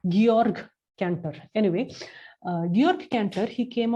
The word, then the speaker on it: Georg Cantor: we pronounce it as george cantor uh it is actually georg cantor anyway york cancer he